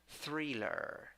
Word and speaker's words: thriller: Number 10, 8 letters, 7 words, 2 syllables. The first syllable is the one that is stressed. I sounds like e, and schwa sounds like pronunciation, thriller, thriller.